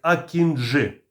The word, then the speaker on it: Акінджи: і важкий ударний безпілотник акінжи наголос на останню букву для компанії байкаar важливо